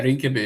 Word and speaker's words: Rinkeby: visited a area um excuse me if I pronounce it wrong, uh Rinkeby? Yeah, yeah, Rinkeby, yes.